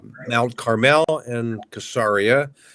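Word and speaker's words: Caesarea: U Mount Carmel and casaria on the coast pronounced also cesaria uh sorry about the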